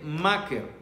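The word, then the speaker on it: מכר: En hebreo son 3 palabras, M-K-R, vender, y se pronuncia yen maker, es vender algo.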